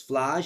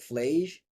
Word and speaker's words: Phlage: You like Phlage? Because it sounds like flame.